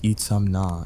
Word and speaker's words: Itzamna: Pronounced Itzamna if you want to sound like you've got your life together. Itzumna if you're aiming for extra confusion.